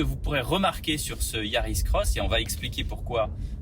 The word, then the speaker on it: Yaris X: de la nouvelle Toyota Yaris cross alors ça s'écrit Yaris X mais on lit le X comme un cross puisque c'est une croix bref après la sémantique